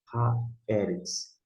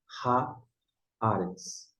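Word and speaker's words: הָאָרֶץ: Esse ha é um artigo, mas aí você não vai pronunciar ha-eretz, e sim ha-aretz.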